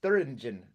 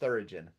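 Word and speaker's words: Thüringen: It's Thuringen. All I can think of is Thurigen.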